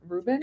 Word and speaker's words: Rubin: house right now, Dragons Love Tacos by Adam Rubin. Good one. That's how you pronounce his last name.